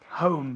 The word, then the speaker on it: home: Home. Y tienes que cerrar la boca con la M.